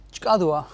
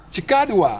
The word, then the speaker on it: Tsjakadoea: Hoe spreek je het precies uit? Chikadua. Chikadua. Ja, ja. Goed zo.